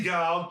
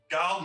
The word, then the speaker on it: Guild: This lovely young actress was cleverly marketed as her name rhymes with wild. Guild made her screen debut in the Joseph L.